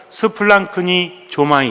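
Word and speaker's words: σπλαγχνίζομαι: 스플랑크니 조마이. 스플랑크니 정확히 하려고 하지 마시고 그냥 입으로 한번 발음해 보면 의미가 있는 겁니다.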